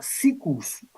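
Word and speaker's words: SIECUS: Kinsey se murió en el año 1956, pero sus colegas fundaron lo que se llama SICUS, que se escribe CIECUS con S, que significa el Consejo de Estados Unidos de Información y Educación Sexual.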